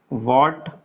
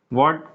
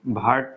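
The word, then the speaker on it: what: वॉट, इसका pronunciation होता है वॉट। ठीक है, भाट तो कभी होता ही नहीं, ये ध्यान रखें आप। कुछ लोग वॉट कहते हैं, बट एक और होता है इसका, वट भी कहते हैं अपन इसको।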